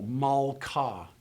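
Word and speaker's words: מלכה: So as you look at this first example, mal-ka, it makes sense that the kaf has a dot. It makes sense that the kaf has a dot after no vowel, because the first syllable is closed and the kaf has to explode forward as you move into the rest of the word.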